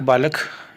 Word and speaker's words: बालकः: उसका उच्चारण करेंगे हम बालकः। हिंदी में इसे कहेंगे बालक।